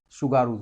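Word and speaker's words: Tsugaru: और यहाँ पे है सुगारू जलसंधि। ये टी से होता है, टी इसमें साइलेंट होता है, इसको सुगारू पढ़ते हैं।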